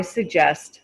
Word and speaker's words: suggest: try something different i suggest we try something different you don't hear after when i say i suggest you don't hear the t sound i suggest we try